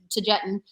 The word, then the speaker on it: Taygetan: That's how I pronounce it, Taygetan. And he's never corrected me.